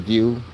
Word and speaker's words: Vue: And we got a Saturn Vue.